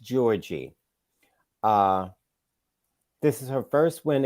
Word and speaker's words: Giorgi: Venus won against Camilla Giorgi. Her name is pronounced Georgie.